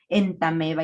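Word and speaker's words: Entamoeba: citado El ejemplo de entameba histolytica que en realidad se escribe en tamoeba pero se pronuncia en tameba así muchos más que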